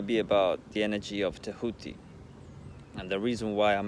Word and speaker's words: Tehuti: So inevitably, T.H.T, end up with the pronunciation of Tehuti, which is also, yeah,